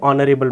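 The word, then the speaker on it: honourable: मैन है, मैन के लिए आर्टिकल लगेगा, लेकिन प्रोनाउंसिएशन क्या होगा? ऑनरेबल का, एन ऑनरेबल मैन, राइट।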